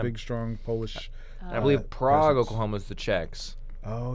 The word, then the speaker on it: Prague: yeah it's a big strong Polish I believe Prague Oklahoma is the checks oh yeah okay that's